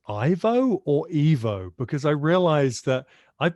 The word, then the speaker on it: Ivo: I've just realized, is your name pronounced Ivo or Evo? Because I realized that I've been saying Ivo all the way through this interview, and you've just said Evo.